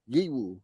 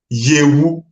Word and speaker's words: Yewu: We got the Yiwu. Nah, yeah, I know you not pronounce it very well, so let me help you. It's pronounced as Yewu.